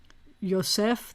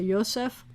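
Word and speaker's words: יוסף: of the hebrew then you would say yosef the accent would be on the last syllable most of the words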